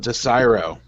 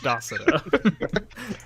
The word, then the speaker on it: Desiro: He's from Desiro. And Biff, you know that it is pronounced Docero.